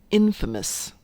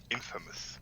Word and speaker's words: infamous: on one thing ed infamous infamous right as opposed to infamous it's it's pronounced a little bit differently than famous which is really weird